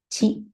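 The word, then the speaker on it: ち: Native Japanese words don't have ti in its vocabularies. It only has a chi sound.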